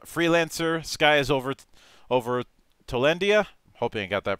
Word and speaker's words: Tolindia: of co-creator of freelancer sky is over over tolendia hoping i got that pronounced right the one and only brian mosley